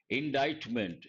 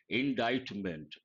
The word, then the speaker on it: indictment: Indictment. Here you got to be careful with pronunciation. Indictment.